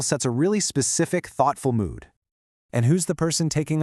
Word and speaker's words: 모: The first one, sway, is pronounced say in Korean, and it means year. The next one, moo, is read mo, which means dusk or the end of something.